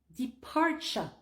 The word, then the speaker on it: departure: Departure. Tu prononces le TU comme s'il y avait vraiment un CH en plein milieu du mot.